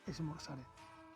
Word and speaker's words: esmorzaret: No, es con Z, ¿vale? Para los castellanoparlantes sería esmorzaret, en ese sentido, pero se dice esmorzaret, se pronuncia así.